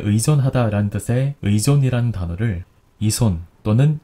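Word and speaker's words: 依存: 어디에 의존하다 라는 뜻의 의존이라는 단어를 이손 또는 이존 이 둘 중에 어떻게 읽을 것이냐 하는 문제입니다.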